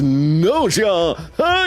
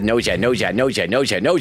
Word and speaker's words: Gnosia: Logan is Gnosia.